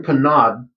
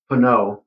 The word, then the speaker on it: Pinaud: And uh yeah, so the club in Panad um and I believe it's pronounced pano or pana because it is a French product.